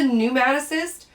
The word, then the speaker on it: pneumatocyst: and this is a pneumaticist pronounced with an n but spelled with a pn so the p is silent but this is a